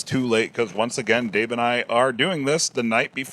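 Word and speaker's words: Tao: of uh Jack Bower da to T it's pronounced da all right the da of Jack bow and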